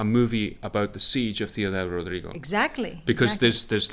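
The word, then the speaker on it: Ciudad Rodrigo: do you say this because when you see see you dad rodrigo you go it can't be said like that so you taught me how to say this so i say theodore rodrigo in the show because you told me and that was like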